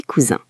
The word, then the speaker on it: cousin: Et leurs enfants sont tes cousins. Attention à la prononciation ici. Pour un garçon, c'est mon cousin, le son est un. Pour une fille, c'est ma cousine, le son est in.